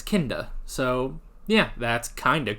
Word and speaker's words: Kinda: you guys told me that that's how it's pronounced it's not kinda it's kinnda so yeah that's kind of cool okay um